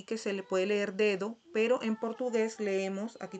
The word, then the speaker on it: dedo: Aquí tenemos otra vez el mismo ejemplo pasado con el sonido D, dedo, dedo, ¿verdad? Al final, cuando es O, C, en algunos casos se pronuncia como si fuera una U, dedo.